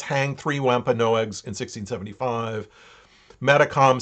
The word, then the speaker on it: Metacom: the name uh philip but his name uh was mostly was most often pronounced or spelled as metacom in uh the wampanoag language okay and so there